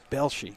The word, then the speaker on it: Belshey: Belshey, that's the way you pronounce that name.